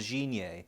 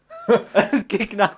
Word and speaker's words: Gignac: a play I think he's called Jean yay but obviously I pronounced it Gignac was my chosen player